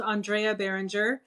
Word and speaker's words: Andrea Barringer: over here honestly um so that was actually pronounced andrea behringer um and i write uh sci-fi it's really